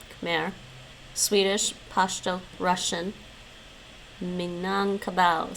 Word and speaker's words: Khmer: Albanian, Khmer. It rhymes with bear. Khmer.